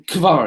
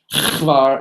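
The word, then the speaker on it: כבר: on the river Kar actually it's really Kar it's not khar it's it's it's k v a r if you want to now how it's pronounced in Hebrew a question is raised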